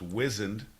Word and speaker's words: wizened: Well, it's called wizened. It's pronounced wizened. And I like wizened.